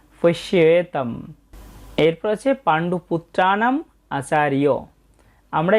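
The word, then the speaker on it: পশ্যৈতাং: তাই আমরা এখানে উচ্চারণ করব পশ্যই তাম। কোনো শব্দের শেষে অনুস্বর থাকলে আমরা অর্ধেক ময়ের মতো উচ্চারণ করে থাকি। এটা সংস্কৃত শুদ্ধ উচ্চারণ পশ্যেতম।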